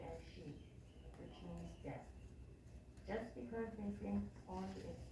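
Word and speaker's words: 十: People associate 10 wicked acts with the number 10, pronounced Ju.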